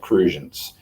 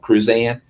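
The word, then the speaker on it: Crucian: on the island of saint croix they're called cruisians saint thomas sancho means that sort of thing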